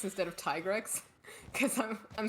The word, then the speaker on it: Tigrex: I say Tigrex instead of Tigrex, because I'm saying it's Swedish tiger. I'm saying always it's said Swedish Tigrex. tiger. Okay. Alright, I It messaged does kind of Walker. work. Like it rhymes with T-Rex.